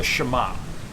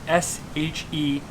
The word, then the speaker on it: shemagh: right now, which is called a shemagh. It's this simple thing right here. Now that's S-H-E-M-A-G-H, shemagh. That's how you spell it. That's how you say it.